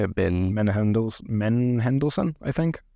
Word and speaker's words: Mendelsohn: You got Olivia Cook, Mark Rylance, not sure how you pronounce that. Ben Mendes, you said it earlier. How do you say it? Ben Mendelsohn, I think. Mendelsohn. I think it's Mendelsohn, whatever.